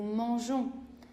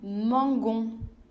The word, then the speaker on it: mangeons: Je dis nous mangeons. Si je supprimais le E, je devrais prononcer nous mangons.